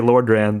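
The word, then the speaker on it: Lordran: They say Lord Ran. They say it a lot. And you didn't know how to pronounce Lord Ran.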